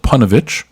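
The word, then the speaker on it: Ponevezh: in this Yeshiva now the Yeshiva is called panovich which uh it's totally not like it's spelled in the article which is not surprising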